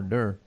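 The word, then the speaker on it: Derr: He's raced there, and Ernie Durr, he's pronounced D-E-R-R, Durr.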